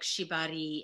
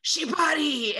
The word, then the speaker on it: shibari: I love that, because in part one, you were talking a lot about words like shibari and kinbaku. Did I pronounce both of those?